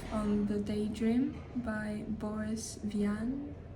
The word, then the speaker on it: Vian: the Daydream by Boris Vian V it's a French author so I'm going to pronounce it like that this was not very